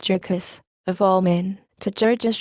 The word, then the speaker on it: Jurgis: just been married to Georges, asterisk pronounced Jurgis, of all men, to